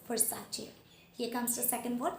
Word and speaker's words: Versace: So the first word it is supposed to be pronounced as Versace. It is not Versace, it is Versace.